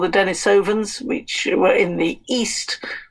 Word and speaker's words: Denisovans: And these, what do you pronounce it? Denisovans, is that it? Yes, they come from a cave that was called Denisova Cave.